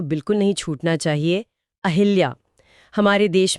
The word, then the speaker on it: अहल्या: इसमें ह पर छोटी ई की मात्रा नहीं होती। लेकिन लोग तो हमेशा मात्रा लगाते हैं। क्योंकि आम बोलचाल में उच्चारण की सुविधा के लिए लोगों ने ह पर मात्रा लगा दी, लेकिन परीक्षाओं में अगर